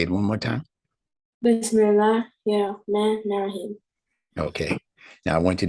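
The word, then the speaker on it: بسم الله الرحمن الرحيم: So when you say it, I want you to keep it separated like that and to pronounce it exactly like that.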